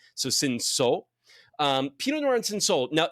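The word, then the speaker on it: Cinsault: ns l t but it's French you don't really pronounce the T So Sino um ponor and Sino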